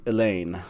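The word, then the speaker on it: Elayne: aain and elen um e l YN is clearly meant to be elain um and then uh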